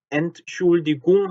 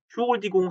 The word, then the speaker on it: Entschuldigung: 생활에서 entschuldigung이라는 표현보다 그냥 schuldigung 하는 표현을 듣게 돼요. 그래서 뭐지? schuldigung인가? 하고 듣게 되는데, 사실은 엄밀히면 ent라는 발음이 죽어버린 거야. 그래서 너무 빨리 entschuldigung인데 넘어가서 마치 schuldigung인 것처럼 들리죠.